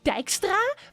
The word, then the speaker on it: Dijkstra: someone's gonna be like, actually, it's Dijkstra because it is a Dutch name. It's gonna happen. You know what's gonna happen. I always do. I'm gonna re-upload the Dijkstra video as well on like the backup channel for YouTube.